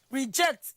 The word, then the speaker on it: reject: Reject. In reject, it is the jet that actually receives the primary stress.